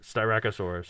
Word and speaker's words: Styracosaurus: of an oh and think of a donut there we go yeah